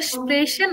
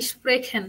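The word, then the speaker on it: sprechen: গেহেন অর্থ যাওয়া আর এটা হবে স্প্রেশন নাকি স্প্রেখেন বলেন তো স্প্রেখেন নো এটা হবে স্প্রেশন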